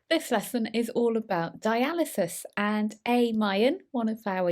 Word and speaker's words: dialysis: Well, it is pronounced dialysis.